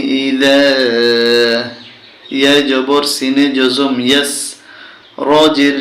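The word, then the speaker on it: يَسْرِ: ইয়া জবর সিনে জজম ইয়াস, র জের রি, ইয়াসরি, কিন্তু উচ্চারণ হবে ইয়াসর, ওয়াল্লাইলি ইযা ইয়াসর।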